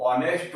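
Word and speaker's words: honest: क्या होता है कि ये जो एच है वो साइलेंट हो जाता है और हम लोग ऑनेस्ट बोलते हैं इसको, ठीक है।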